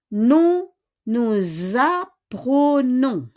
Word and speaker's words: apprenons: Hindi siya apprenons, ha? Yung E doon, yung letter E is E. Kasi wala siyang accent.